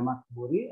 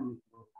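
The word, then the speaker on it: Maqburi: Ya, ada yang membacanya Makburi, ada yang membacanya Mikburi.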